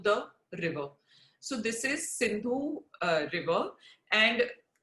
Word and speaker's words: Sindhu: So this is Sindhu River, and the Persians couldn't pronounce it as Sindhu, and hence they couldn't pronounce the S, and so it became Hindu.